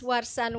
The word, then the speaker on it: Warsan: Next to Margie is Miss Warsan Witsan. Do I pronounce the?